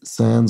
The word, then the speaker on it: sans: doesn't particularly oh minuses Sans or song depending on how close to the French pronunciation you'd like to get and it means without